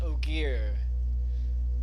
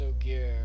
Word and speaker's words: Ogier: Here, let me go ahead and oh, okay, apparently it's pronounced Ogier. Put forth as Ogier, okay.